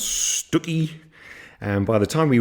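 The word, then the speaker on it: Stiffkey: that day we pass through Blakeney Morstan and stiff key which I discovered his pronounce Stewie and by the time we reached wells next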